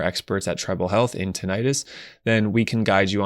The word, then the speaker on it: tinnitus: for those who have tinnitus which we also pronounce tinnitus then there are some